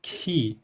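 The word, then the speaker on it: χῖ: O valor fonético original no grego clássico dessa letra representava a junção do som K mais a aspiração H. Então a pronúncia disso aqui seria Ki, Ki.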